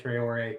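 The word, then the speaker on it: Traoré: Yeah, I think it's Traore. I think you guys are right, Traore. Yeah, my soccer pronunciation was correct.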